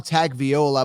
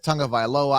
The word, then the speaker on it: Tagovailoa: I call him Tagovailoa, but it's Tagovailoa.